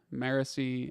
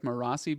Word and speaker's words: Marasi: out loud out loud I like Brett's pronunciation better marasi marici and marasi I want to I think I like marasi better just to my own